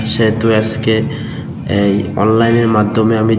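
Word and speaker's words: ث: সা হচ্ছে যে জিহ্বা, এখানে যে এই যে জিহ্বা আছে, আপনার দাঁতের আগা আর জিহ্বার আগার সঙ্গে লাগাবেন, তাহলে একটা নরম উচ্চারণ ভাব আসবে, সা সা।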